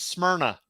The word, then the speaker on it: Smyrna: wait say the name of the town again Smyrna all right all right um we're just talking about how to pronounce all right what's your heritage I'm a redneck it's Smyrna yep but yeah so they're uh they're gonna